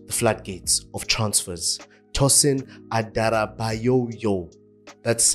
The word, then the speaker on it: Tosin Adarabioyo: Chelsea have opened the flat Gates of transfers tosen adoo that's how it's pronounced yes full names are crazy full names